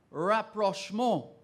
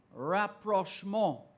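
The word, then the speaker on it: rapprochement: of Saint Andrew your word another French word rap Roche mode rap Rushmore r-a-p-p-r-o-c-h-e-m-e-n-t that is perfectly correct let's go to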